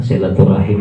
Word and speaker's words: silaturahim: ukhuwah bisa bersilaturahmi bersilaturahim silaturahmi benar silaturahim juga benar itu ini cara membacanya ada dua silaturahim sinetron Rohmi menurut